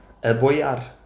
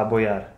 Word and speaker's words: aboiar: Aboiar. Uma coisa que está a boiar. É uma palavra. Aboiar. Não é a boiar, é aboiar. Mas como é que isto se escreve?